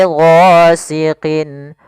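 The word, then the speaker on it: غَاسِقٍ: Kemudian pada lafal qin, di sini harus jelas, tidak boleh ghasiqin. Nah, jangan panjang.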